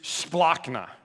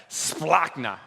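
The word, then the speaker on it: σπλάγχνα: when he saw him the greek root word for compassion is splockna say that and say it like just like that splockna i want you to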